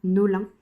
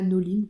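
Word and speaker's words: Nollin: fils pour cette broderie-là, qui s'appelle La Nolin, ou La Noline, je ne saurais pas, ça s'écrit La, plus loin, Nolin, N-O-L-L-I-N, je crois, je vous mettrai le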